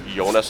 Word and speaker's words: Jonas: be scouting out yonas that is actually the correct pronunciation yonas I'm fan it's not Jonas oh oh there you